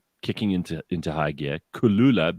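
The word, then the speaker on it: Kloola: into into high gear Kula but it's spelled k l o o l a and they're going to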